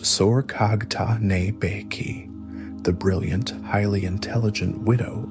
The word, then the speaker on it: Sorghaghtani Beki: The great political architect of this Toluid ascent was Sorghaghtani Beki, pronounced Sorghaghtane Beki, the brilliant, highly intelligent widow of Tolui and mother of the four great Toluid princes, Monke, Kublai, Hulagu, and Arik Boke.